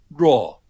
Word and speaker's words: Jo: In Mandarin, his name is Xu Ruo, Xi. So the J-O is actually pronounced Ruo in Mandarin, which is a little odd that they spelled it J-O, but that's what it is.